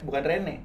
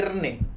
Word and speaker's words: Renn: Nah, Bagaimana nama gua tuh dibacanya sebenarnya bukan Rene, tapi Rene. Rene. Iya, Rene. Makanya N-nya double.